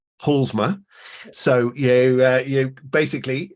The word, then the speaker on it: Paulusma: a Polly and I've just checked how to pronounce her surname and it's PMA so you uh you basically uh leave out